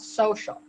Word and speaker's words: Sewcial: But this year we're doing a retreat, and the retreat is called Social, and it's basically, and it's spelled SEWCIAL.